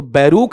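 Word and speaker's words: Barack: बताओ इसका उच्चारण क्या रहेगा? बोलो आपका वहां पर? अरे बोला हुआ है बराक।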